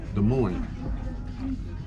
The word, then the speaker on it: Des Moines: Des Moines. You don't pronounce the S, and you don't pronounce the S on either That's side.